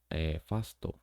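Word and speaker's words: ファースト: or katcha then the the first base as Fasto which is first first base Fasto then there's the second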